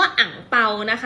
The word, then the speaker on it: อั่งเปา: คำ ถัด ไป ค่ะ คำ ว่า อั่งเปานะ คะ ใน ภาษา จีน แต้จิ๋ว ค่ะ ออก เสียง ว่า อั่งเปา และ ใน ภาษา จีน กลาง ค่ะ ออก เสียง ว่า หงส์ เปล่า คำ ว่า ตู้